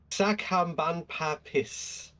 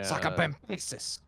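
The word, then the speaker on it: Sacabambaspis: Are you ready for this pronunciation? Yeah, let's see. Right. Sakambanpapis. Sakabambasis? There we go. Yeah. Bambasis? Oh, my god, the only reason that's Lindsay Nicole's thing. Yeah. Sakabambasis.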